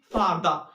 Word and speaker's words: farther: those words in English which end in er give a new sound, which is schwa sound. And schwa sound, its symbol is like this, and it's give a sound like eh. So further, its pronunciation will be further. Farther, its pronunciation will be farther.